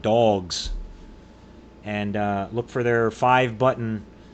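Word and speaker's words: Big Dawgs: It's spelled D-A-W-G-S, like dogs.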